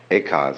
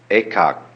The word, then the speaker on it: Eka: Eka is Japanese pronunciation, like Zen is the Japanese pronunciation of the Chinese Chan. And the story is that when Eka came to Bodhidharma, Bodhidharma refused to accept him as a student.